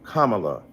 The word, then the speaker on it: Kamala: you call Melania Melania do you call Ivanka Ivanka then call Kamala Kamala then call vice president